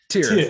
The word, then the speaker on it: Tyr: How do you pronounce it? Tyr.